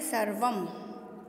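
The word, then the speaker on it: सर्वम्: अनुस्वार कहते हैं और अनुस्वार का उच्चारण संस्कृत में मैं से होता है। तो आप इसको सिर्फ सर्व नहीं पढ़ के इसको पढ़ेंगे सर्वम।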